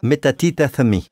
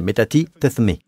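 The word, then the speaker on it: μετατίθημι: Le mot tourner est le mot metatithemi d'accord. Metatithemi, c'est comme ça que vous le prononcez metatithemi.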